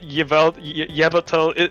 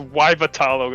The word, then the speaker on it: Yveltal: Can you tell Jin that Yveltal is not pronounced Yvatalo, right?